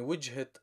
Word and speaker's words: وجهة: And the response, you could say من وجهة نظري. من وجهة نظري is because of the apostrophe, that's why we're pronouncing the feminine case T in terms of pronunciation, verbally only, not written.